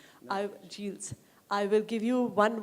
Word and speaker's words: Gilles: So we'll start with Gilles. I'm sorry if I'm mispronouncing your name. No. Gilles.